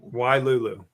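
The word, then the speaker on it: Wailulu: Y Lulu. That's how they pronounced it.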